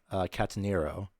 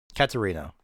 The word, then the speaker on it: Catarino: This is per Maria Catanero. Catanero? Nope, I pronounced that wrong. No, I was right, yeah. Catarino.